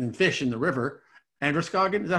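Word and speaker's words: Androscoggin: all the oxygen in fish in the river, Anderskogen, is that how we pronounce it? Yeah, Anderskogen.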